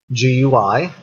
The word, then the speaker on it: GUI: a graphical user interface otherwise abbreviated as GUI pronounced GUI graphical user interface which means that is a